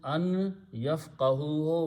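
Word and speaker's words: أن يفقهوه: as in the Quran, when noon comes with a ya, sound of noon becomes noon gunna, and then you put a shadda there and you pronounce gunna an yafqahuhu, lest they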